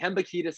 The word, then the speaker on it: Hembekides: Hembukidis is how it's pronounced.